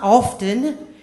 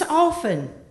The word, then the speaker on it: often: word wrong the word the T in that word is silent it's not often it's often to which my mother